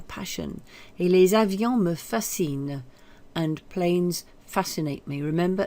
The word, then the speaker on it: fascinent: Because it's planes in the plural, that's why you've got this written in the ENT, even though it's not pronounced. Les avions me fascinent.